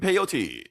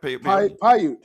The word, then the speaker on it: Paiute: Captain Peyote. Did I say it right? Paiute.